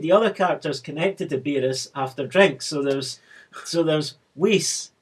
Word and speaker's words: Beerus: He's meant to be translated as Bills because his name was supposed to rhyme with virus.